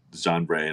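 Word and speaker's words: chanvre: in France as well because I know that John Bray and I know I pronounced that wrong that's c h an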